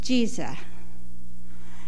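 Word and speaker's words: Giza: spelled GI z eh but it's pronounced Jesus and it is a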